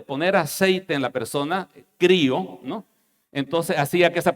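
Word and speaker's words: χρίω: Que se pronuncia crío, que significa ungir.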